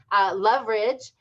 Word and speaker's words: Loveridge: It's Loveridge. 2 syllables.